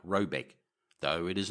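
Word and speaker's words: Råbäck: The manor house or herrgård in question is to be called Rayback, pronounced something like Robeck, though it is not its name.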